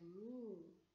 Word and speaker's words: knee: So, look at the word and keep letter K as a silent letter. Why? Because letter N is stronger than letter K. Letter N is stronger than letter K. So read the word from letter N.